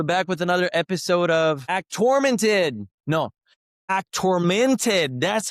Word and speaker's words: Actormented: And we're back with another episode of act tormented. No, act tormented. That's how you No, now I figured it out. I actually figured it out how to say it. It's act tormented.